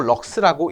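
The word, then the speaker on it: lux: 그 다음에 조도의 단위는 LX라고 쓰고 럭스라고 읽습니다.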